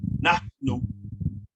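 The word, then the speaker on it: نحن: There's an aspirant H there, so you pronounce it nahnu, which means we, whom, which means they, and intim, which means you all or y'all, right?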